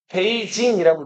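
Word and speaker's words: 北京: 그 난증이 북쪽의 수도 베이 자 북쪽의 수도 북경이라고 하고 중국어로 읽으면은 베이징이라고 읽죠.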